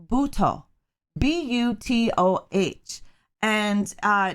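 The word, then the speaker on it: butoh: a form of a dance from japan called bhuto b-u-t-o-h and uh not only is it based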